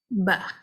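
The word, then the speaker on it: ب: The letter ba, again, this is from between the 2 lips. So how you can pronounce it is by closing and immediately opening the lips. So ba, bi, bu, ab, ab. So you're closing the lips and instantly disconnecting both the lips to pronounce it.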